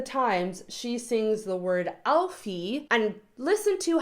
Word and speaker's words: Alfie: do it do it Alfie the last syllable is a very closed e vowel I've stated this in